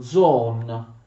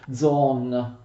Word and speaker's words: zoon: animale politico animale sociale mi raccomando zon con l'accento sulla prima o c'è una bella omega con persino una era uno yacht ha sottoscritto non come stranamente in maniera erronea molti testi di filosofia che per le scuole scrivono john non è john animale il termine greco usato da aristotele e john con l'accento sulla prima non solo l'ultima sillaba un animale sociale che